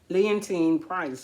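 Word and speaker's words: Leontyne Price: Leontine Price, but I was saying her name wrong.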